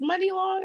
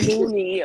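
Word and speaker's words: Muni Long: And let me just say, I just started pronouncing her name right because I'm like, what? It's Money Long. I said, okay, I like that. Oh my gosh, I So, feel so bad. I've been saying Mooney or Money, me Mooney, too.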